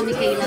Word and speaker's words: Mikayla: Tagalog kasi, pero talagang pag-pronounce ng pangalan ko, Mikayla talaga.